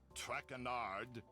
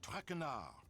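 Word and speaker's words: Tournot: butchered while I eat as for my name not trenard it is trenard TR enough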